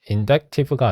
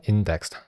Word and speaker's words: indexed: An inductive family is an indective가 아니라 indexed.